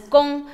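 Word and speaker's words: 工: This character is pronounced as gong, so it means a tool.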